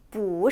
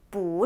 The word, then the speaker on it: 不: 자, 이렇게 첫 음이 사성일 경우에 부자가 어떻게 돼야 될까요? 부 이렇게 위로 올라가 줘야겠죠. 함께 천천히 발음해 볼까요? 나는 바보가 아니야. 我不是笨蛋我不是笨蛋 잘하셨어요.